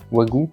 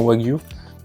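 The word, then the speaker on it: wagyu: Comme ça se prononce ça ? Wagou non, Wagu. Wagu Wagu, punaise.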